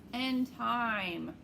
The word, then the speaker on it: time: a boy's name right but if i add the silent e it turns into i'm time two completely different words